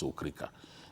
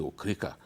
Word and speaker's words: Okrika: Look, I was in Okrika the other day, you know, which we like to pronounce as Okrika. It's actually Okrika.